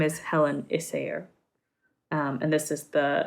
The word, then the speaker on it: Issager: isaiah isaiah isaiah isaiah basically the g is more like a yeah a yeah yeah um so her name is helen issayer um and this is